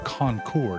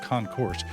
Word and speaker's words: concours: notice I pronounced it concour not Concourse it's a fancy French word hearkens back to the